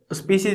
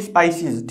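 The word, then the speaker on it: spices: स्पीशीज नहीं, स्पाइसीज, ठीक है ना, गलत हो गया स्पेलिंग, है ना, स्पाइसेस, मसाले देखने को मिलते हैं।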